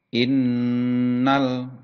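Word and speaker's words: إِنَّ: Dengan adanya huruf yang diberi tanda tasjid, maka cara membacanya ada sedikit tekanan atau dibaca double, ya. Innal, ya seperti itu.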